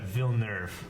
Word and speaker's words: Villeneuve: Pronounced Villeneuve, by the way.